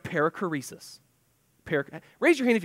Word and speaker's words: perichoresis: can actually read that that is a Greek word and the word is pronounced perichoresis Parekh raise your hand